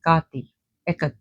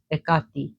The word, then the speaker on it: Hecate: And this looks like the goddess Hecate, or Hecate as they call her in in English, and she's pronounced Hecate in Greek.